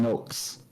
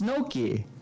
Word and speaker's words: gnocchi: Let's make some gnocchs.